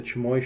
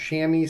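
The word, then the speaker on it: chamois: ones but I always called it like the chamoy shirt or whatever it was but he said it's pronounced shammy so we're going to go with that this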